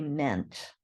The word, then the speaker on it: meant: even though mint looks like it might be pronounced mint we do say meant then there are those you just have to